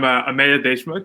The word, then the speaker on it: Ameya Deshmukh: Start with properly pronouncing your name for us. Yeah, Sure thing. So I'm Ameya Deshmukh.